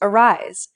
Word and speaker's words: arise: pronounced kernel not colonel the second word is pronounced arise adding an n however doesn't give you